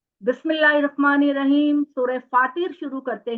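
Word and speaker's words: فاطر: सूरह फातिर शुरू करते हैं। ये इसको आपने प्रोनाउंस करना है फातिर।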